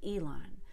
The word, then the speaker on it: Elon: the highest pitch now we don't want to change Elon musk's name so I cannot say he invited Dylan absolutely not Elon cannot be d-line it has to be Elon so I invited invited